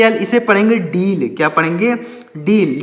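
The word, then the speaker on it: deal: ए एल इसे पढ़ेंगे डील क्या पढ़ेंगे डील डी ई ए एल डील डील का मतलब क्या होता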